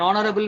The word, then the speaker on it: honorable: And an honorable man, an heir, an honest man. So in this all words, H is silent, right?